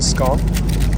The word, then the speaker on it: scone: leaf finger sandwiches then they've given us a scon as well or scone however you want to pronounce it we've got some clotted cream some